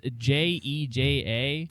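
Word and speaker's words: Jéja: I'm not sure how to pronounce it. It's Jeja. It'll be on the screen as Jeja. well. But the so. A has an accent, or no, sorry, the E has a little accent over it.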